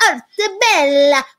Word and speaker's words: Arte Bella: You have to say it like you're Italian, so you have to do the hands and say Arte Bella.